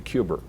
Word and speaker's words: Cuba: a JFK fan so I I pronounce Cuba the way that JFK did cuber having lived in Massachusetts you know there's a very simple rule any word that ends in a vow you put an r on the end and